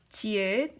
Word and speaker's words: 지읒: So first beginning consonant 지읒, it pronounce J, but when you're using the ending consonant 지읒, it pronounce D. It's different. Can you see that? Beginning consonant 지읒 is J, but ending consonant 지읒 is D.